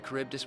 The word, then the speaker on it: Charybdis: I dare say the Charybdis will be fine here on.